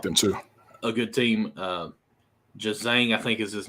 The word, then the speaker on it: Juzang: Jazang, I think is his name. Did I say it right? Yeah, Johnny Juzang.